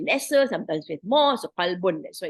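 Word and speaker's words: قلب: So the kalbun, if you pronounce it, the heart as qalbu, a kalbu is, you don't pronounce the qa in itself, and you say kalbu, it becomes a dog, right?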